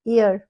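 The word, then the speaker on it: year: Next one इज़ इयर। इसको हम here नहीं बोलते हैं। इयर है ये।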